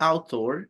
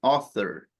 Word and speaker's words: author: Okay, it's not author, it's author. Author. No after, author. Okay, ya me di cuenta qué pasó. Author, Michelle, this is a sound that we have in English, but we don't have in Spanish. So that's why this sound might be difficult. When you have the letters TH together, it sounds like this.